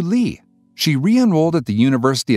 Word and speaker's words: Leigh: was also an actress she however reverted to janet lee and changed its pronunciation to lee she re-enrolled at the